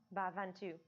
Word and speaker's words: Bhavantu: Yeah, Lokah Samastah Sukhino Bhavantu.